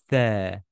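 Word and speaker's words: ث: Tha, tha, as in the letter three, three. Exactly, you exaggerate the pronunciation of three. Okay, you stick out your tongue.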